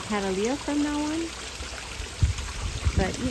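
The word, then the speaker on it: Cattleya: actually told me that the correct way to say it is Catalia I guess I'll be saying Catalia from now on but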